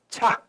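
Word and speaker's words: ཆ: 那你看 CK 恰那个发音就不一样，所以你们就刚开始学的时候不要用那个英文的那个拼字来去读的话，那就是发音就不准嘛。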